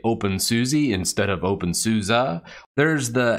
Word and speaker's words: openSUSE: GNOME, or Debian, you say Debian, you say OpenSUSE instead of OpenSUSE.